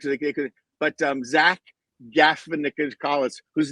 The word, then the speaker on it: Galifianakis: But Zach Galifianakis, whose name they never pronounce correctly, plays Martin Short. Galifianakis.